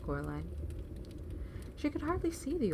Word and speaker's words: Coraline: They got your name wrong, you know. They kept saying Coraline, not Caroline. Not Caroline at all."